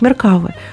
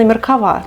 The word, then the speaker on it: Меркава: меня получилась и именно Меркава так многие мне пишут Как правильно произносить этот танк Я думаю они правы так как вы врите чаще всего ударение на последний слог и надеюсь это видео